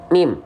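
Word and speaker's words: ميم: Ya, mim dilafalkan persis seperti kita melafalkan huruf M pada abjad alfabet.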